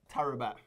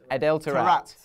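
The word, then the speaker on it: Adel Taarabt: How do I pronounce it? Adele Tarapt. Tarapt.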